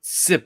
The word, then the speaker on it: Sim: Yeah, Sip is also fine, but Sim is the preferred pronunciation.